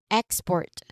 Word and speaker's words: export: Yes, it's I am referring to export. Okay, export be uh first syllable being the stressed syllable.